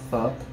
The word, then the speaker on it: pho: That was spelled pho. It is spelled pho, but it's pronounced pho.